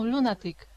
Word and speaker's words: lunatic: no no no no lunatic it's okay I would say not quite sorry enough for me that's better lunatic I and we do say Luna as in Luna not for the moon Luna okay so lunatic somebody